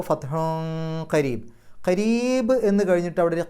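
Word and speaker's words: فتحٌ قريب: മതി മിനല്ലാഹി വ ഫത്ഹുൻ ഫത്ഹുൻ എന്നുള്ളിടത്ത് അവിടെ ഹാഇന് തൻവീൻ ഉണ്ട് ശേഷം കാഫാണ് കാഫിന്റെ മുമ്പ് തൻവീൻ വന്നാൽ അവിടെയും ഇഹ്ഫാഹ് അപ്പൊ ഫത്ഹുൻ കരീബ് കരീബ് എന്ന് കഴിഞ്ഞിട്ട് അവിടെ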